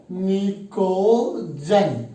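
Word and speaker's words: pnictogen: P silent है भैया, निकोजन।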